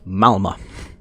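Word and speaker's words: Malmö: I've recently learned that Malmo is not actually pronounced Malmo it's pronounced Malmo there is no second a in that Sweden yes honestly all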